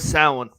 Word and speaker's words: Samhain: to do with the Feast of Samhain. Spelled with an M, folks.